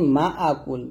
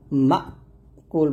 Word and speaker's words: مأكول: এখন আমরা যে ফলটা করি মা আকুল বলি, এই যে হামজার উচ্চারণটা আমরা ডাবল করে ফেলি, এখানে মা কুল বলতে হবে, এখানে একটা ধাক্কা দিয়ে বলতে হবে, ফাজআলাহুম কাআসফিম মাকুল, মাকুল একসাথে।